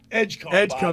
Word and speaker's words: Edgecombe: Vitzcombe. How do you say it? VJ Edgecombe.